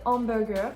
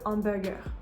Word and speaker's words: hamburger: And finally, the H at the beginning of hamburger is again not pronounced. Even though this is an English word where we say hamburger, in French that is not the case.